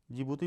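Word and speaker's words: Djibouti: आएगा इरिट्रिया दूसरा जिबूती जिबूती में डी साइलेंट है ठीक है तीसरा सोमालिया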